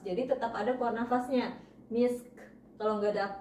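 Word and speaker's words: مسك: Cara bacanya kayak tadi, misk. Jadi k-nya itu tetap terdengar tapi tidak sempurna. Jadi kita menyeret ya, sin sukun dengan ka sukun kita langsung sambungkan, misk.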